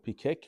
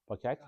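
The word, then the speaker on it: פקק: וכן, how do you pronounce pikek or pakak? Shel backbook. Pakak.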